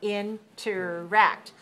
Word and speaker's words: interact: Interact. Where's the stress? Interact. On the 3rd syllable. So 3-3 is our syllable stress code.